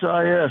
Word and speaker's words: Choisis: How do you see, David, how do you pronounce Choisis?